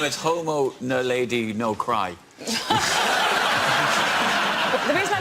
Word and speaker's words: naledi: The Homo naledi, or naledi. Nadali. Homo nadali. Yeah. Nadali. Homo naledi.